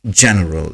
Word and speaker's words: general: block this person foreign there's no Journal if you're not going with the spelling then pronunciation mistakes are bound to happen it's General g-e-n-e-r-a-l and English is a